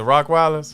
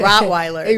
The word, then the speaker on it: Rottweiler: it like was it rock wilders yeah it's not it's it's not a rock oh a rottweiler yeah why do we